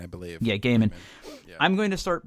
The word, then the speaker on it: Gaiman: I don't know how you say his name, which makes Gaiman, I believe. Yeah, Gaiman.